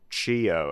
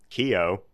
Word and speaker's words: Chio: that I was supposed to pronounce it Chio, as in like channeling your chi, and That's right. And I was supposed to repeatedly bow. Wow. And I immediately go Kio, Mhm.